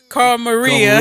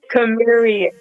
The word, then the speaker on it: Carmaria: Well, You said that, I always call her Carl Maria. Kamaria. We Kamaria. both wrong. How you pronounce it? It's Carmaria.